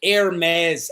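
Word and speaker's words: Hermès: But when I crack the Hermes out, that's what it's pronounced, guys.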